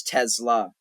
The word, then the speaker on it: Tesla: But yeah, I could never pronounce the L for her name. Her name was Tesla, but I always said Tessa, and I still call her that.